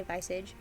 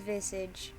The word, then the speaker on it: visage: visage visage visage visage i'm gonna say vice age and somehow it's as if just standing near him makes me feel incredibly calm hold on i gotta look up if i pronounce that right pronunciation visage oh it's visage let me hear that again visage visage visage well i was wrong it's visage and somehow it's as